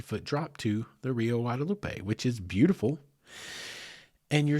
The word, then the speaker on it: Guadalupe: what is known as the Guadalupe Box or Guadalupe Box, which would be the more proper pronunciation.